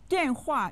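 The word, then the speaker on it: 电话: your telephone number is means telephone den hua uses the fourth tone on both syllables listen now repeat after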